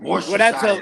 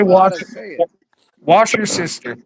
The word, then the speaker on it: Worcestershire: It's Worcestershire. You put it like an extra syllable in there, Worcestershire. Yeah, because of the way it's spelled. You know, I did say wash your sister.